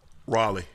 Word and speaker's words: Raleigh: But it's spelled R-A-L-E-I-G-H. Raleigh.